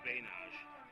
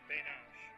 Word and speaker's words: Banach: David Banach. It's Bainage. Bainage. Yeah. Okay. Put an E at the end there. That's why I came over because almost every announcer.